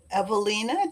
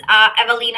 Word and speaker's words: Ewelina: Um, so, like I say, we've got Ewelina. Did I say it right? Yeah, Ewelina.